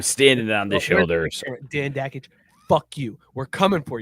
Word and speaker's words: Dakich: Dan Dakich sounds like Jack. Or me. Oh, no, that's how you say his name. Dakich. Oh, Dakich, like Jokic.